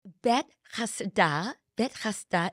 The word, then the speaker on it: Bethesda: It's bet chasda, and bet always means house of.